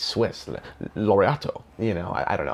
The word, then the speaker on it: Laureato: I believe that's how it's pronounced, which is a funny word. It almost sounds like Origato. You know, it doesn't sound like it's Swiss. Laureato.